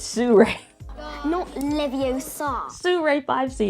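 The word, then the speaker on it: Sirui: be my suray 5c you're saying it wrong not Siri you it's Sue Ray no Leviosa Sue rape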